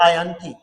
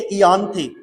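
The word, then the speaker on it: Ianthe: तो आयंथी आयंथी बोलो या इसको एक और बोलते हैं इयानती। ठीक है? दोनों इसके प्रोनाउंसिएशन सही है। चाहो तो आप इसको आयंथी बोलो। चाहो तो आप इसको इयानथे बोलो। ठीक है? दोनों ही सही है।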